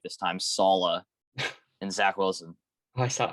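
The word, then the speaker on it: Saleh: with a new quarterback robert salah yes i pronounced it right this time salah and zach wilson i saw i saw the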